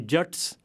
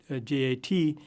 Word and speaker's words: Jat: most common spelling of J-A-T. In Hindi, this would be pronounced Jat with a long A sound, but in Punjabi it would be Jat, and it could even be spelled J-T-T or J-U-T-T.